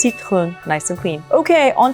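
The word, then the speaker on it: Citroën: But this is pronounced citron, citron.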